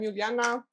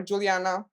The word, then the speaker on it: Juliana: out no I'm kidding I'm uliana or Juliana Juliana for people that cannot pronounce my name that happens a lot